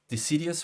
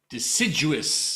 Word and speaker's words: deciduous: desert completely different um and the I cannot pronounce it help me decidious forest deciduous deciduous forest yes um is I've already have